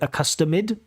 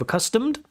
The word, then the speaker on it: accustomed: Like you say accustomid instead of accustomed.